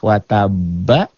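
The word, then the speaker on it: وَتَبَّ: Wataba jadi watab. Inilah qalqalah kubro yang akbar, yang besar, sangat besar. Tuh. Terjadi jika dihentikan. Kalau nggak dihentikan, nggak ada. Misalnya bacanya watabama, nggak ada. Watab.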